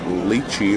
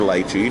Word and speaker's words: lychee: And then you can get watermelon, guava, grapefruit, lychee, or lychee, depending on how you say it.